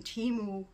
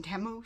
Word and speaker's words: Temu: a temu hul and it is pronounced temu cuz I noticed that they changed their little ads that come up on YouTube the shopping like a millionaire thing it was saying Teemu first but now it's saying temu so anyway whatever pronounce